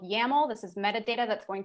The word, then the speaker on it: YAML: So first we'll talk more about YAML. So this rhymes with camel.